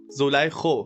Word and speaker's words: Zulaykho: توی موسیقی تاجیکستان یه خواننده‌ای هستش یه خواننده خانم به اسم زلیخا. زولیخو فکر کنم تلفظش باشه و من به درخواست